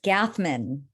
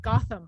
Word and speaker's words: Gathman: It's Gathman. Gathman. That's how most people pronounce it, though. So Well, I even got it wrong the other day. I was like, Gotham.